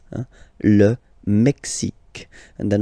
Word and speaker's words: Mexique: X, x, Mexique. It's really the X. Huh? Le Mexique. And then remember this Q-U-E, it's only K, K.